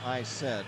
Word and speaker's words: ISED: He says just pronounce it I said.